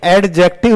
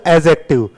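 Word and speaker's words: adjective: ये एडजेक्टिव नहीं होता, डी साइलेंट होता है। This is called एडजेक्टिव।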